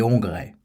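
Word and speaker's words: Hongrois: était la transition régante il avait conservé l'ancienne prononciation et l'ancien orthographe qu'il mettait au service des opinions modernes il aimait la Pologne et la Hongrie mais il écrivait les Polonois et il prononçait les hongrais ilte l'habit de la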